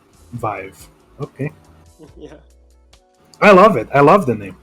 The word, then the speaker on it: Viv3: plus the lead so he's five five not viv yeah not v5 here okay primes rhymes with five rhymes with five vive okay i love it